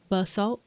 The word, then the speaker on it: basalt: Basalt. But is there an accent on the first syllable or the second syllable? Tomato. I think this could be a potato-tomato kind of situation. Okay. The second. Okay.